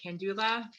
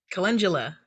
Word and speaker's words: calendula: And I can never pronounce it right. Candula. Calendula.